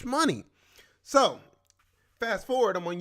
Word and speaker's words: Shmoney: But then I read it, and I'm like, is it money? Is it money? Or is the SH silent? Like, is this the Hindu pronunciation of money?